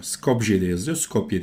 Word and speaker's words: Skopje: Scopeye diye okunuyor. Scopje diye yazılıyor. Scopeye diye okunuyor.